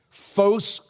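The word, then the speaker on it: φῶς: so ace it's lyrical it rhymes foes photograph Zoe's zoology life foes Jesus cries out he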